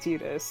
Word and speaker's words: Tidus: say Tidus, and also His name is pronounced Titus. It's pronounced this is Titus. Canon. It's look it up on Wikipedia. yeah, it's That is also the how it's definitive pronunciation. What? it's how it's pronounced in Japanese, also.